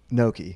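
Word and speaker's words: gnocchi: you said the other except able correct pronunciation Noki Noki yeah yeah yeah my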